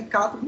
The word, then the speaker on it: cátodo: Então é cátodo e ânodo. Para mim, eu entendo que é isso, porque o acento tá nas primeiras sílabas.